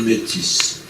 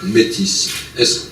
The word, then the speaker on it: métis: Alors, première question, faut-il prononcer le S? Une question facile, Henri, puisque vous y répondez dans votre livre. Bon, moi, je le prononce, mais je m'amuse à souligner que dans mon pays, on l'oublie, cet S.